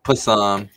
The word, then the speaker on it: Psalm: Psalm. The P is silent, like knucklehead.